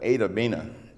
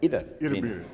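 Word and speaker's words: Itta Bena: a little place called, all the natives call it Itabena. Mm-hmm. That's right. It's spelled Itabena, so we call it Itabena. And people that don't live there call it Itabena.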